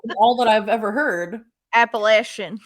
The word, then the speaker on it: Appalachian: I have to know is it is commonly mispronounced as appellation and it's actually Appalachian which I didn't know until I called it appellation yeah me too sometimes that's all that I've ever heard Appalachian like that so they have What's called the